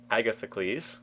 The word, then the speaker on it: Agathocles: How do I pronounce that? Agathocles.